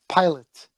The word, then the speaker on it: Pilate: How do you pronounce his name? Pilate.